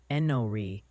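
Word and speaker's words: Enoree: Oh, and the pronunciation posse wants you to know that place in South Carolina is apparently Enori.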